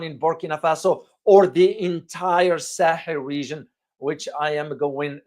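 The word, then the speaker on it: Sahel: So where is the Sahil and what is it? The Sah region or Sahil in Arabic and Sah in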